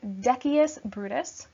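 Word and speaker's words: Decius Brutus: the sound so first we have Casca then Dec is Brutus okay not to be confused with me Brutus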